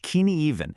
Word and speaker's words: Cynefin: Well, we're going to use this really powerful mental model called the sinophen framework. And by the way, it's pronounced keen even.